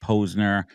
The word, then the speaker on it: Posner: it it's the podcast but it's pronounced poser I'm an idiot try